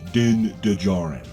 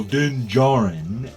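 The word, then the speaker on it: Din Djarin: stop saying his name din dejarin the D is silent it's like the real way you spell Django okay they say it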